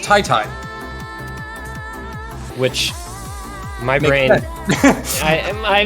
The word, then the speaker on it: TyTy: told that apparently TyTy his name is pronounced Tai Tai which my brain I